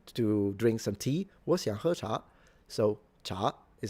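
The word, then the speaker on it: 茶: first tone second tone tone is the rising tone. Think about it like asking a question.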